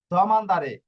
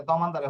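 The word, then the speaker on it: domandare: যাওয়া তর্নারে ফিরে আসা তর্নারে হচ্ছে ফিরে আসা দমানদারে প্রশ্ন করা দমানদারে প্রশ্ন করা এটা দমানদারে হবে এখানে টাইপিং ভুল হইছে বাংলাটা দোমানদারে লিখছে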